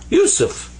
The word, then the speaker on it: Yusuf: here like this without dots actually so that's pronounced like a s and this is pha this comes up to be usu yusuf and that's my name that's how you write